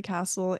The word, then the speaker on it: Kasle: are link tree castle and my Instagram it's kka l e yeah last name is spelled funny but it's it's pronounced Castle a and my last